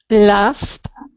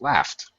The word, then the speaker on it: laughed: Laughed. Indeed, of course, laughed. Okay, laughed with a T sound.